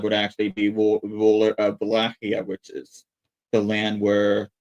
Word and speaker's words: Wallachia: But yeah, you can see on the map right there, Wallachia, which I know it looks like it's pronounced Wallachia, but I'm actually using the proper Romanian pronunciation of it.